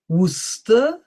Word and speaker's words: Worcester: Gloucester, Leicester, Worcester, Worcestershire, Yorkshire. Okay. So this just to demonstrate to you how difficult English pronunciation is, and it's always good to do